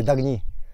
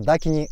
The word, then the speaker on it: Дакини: Это Арагни Дагни или Дагни. Это вариант произношения санскритского слова Дакини монгольскими народами. Мы произносим слово Дакини как Дагни.